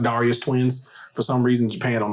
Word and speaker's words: Darius Twin: you should like it darus twin okay and also I'm pretty sure you are wri in the pronunciation is pronounced Darius twins for some reason Japan